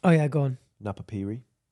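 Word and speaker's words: Napapijri: Do you want to know in the meantime how that's pronounced? Oh yeah, go on. Napapiri. Napapiri.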